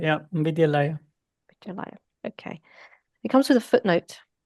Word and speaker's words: Vidyalaya: Priyank, how do we pronounce it? Vidyalaya, yeah, Vidyalaya.